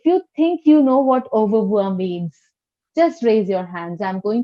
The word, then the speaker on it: au revoir: Now, this is au revoir. Now, this pronunciation is a little bit tricky, so pay attention, okay? Eyes here and listening ears on with me, all right? Au revoir, au revoir, au, au, au revoir, okay?